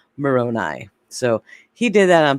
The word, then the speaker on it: Moroni: angel moroni and also no it's pronounced moroni so he did that